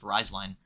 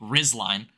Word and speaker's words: Rizline: now the emergence of riseline or excuse me rizline um you gotta get the rest I hate it I hate it I hate it that's how you say it I hate that that's